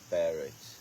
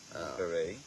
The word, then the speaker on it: beret: He looked more Do you know how I would say Barrett? What is a Barrett? Beret. Beret. That's how you spell beret.